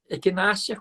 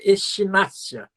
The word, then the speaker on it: equinácea: Equinácea com CH. Equinácea, a gente chama echinácea, mas a pronúncia é equinácea.